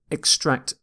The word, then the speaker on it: extract: You stress the second syllable here. Extract can be used as a verb or a noun, but as is often the case with English words, we tend to stress the second syllable in a verb. When we use this word as a noun, we say extract. Extract. So if it's a noun, you tend to stress the first syllable.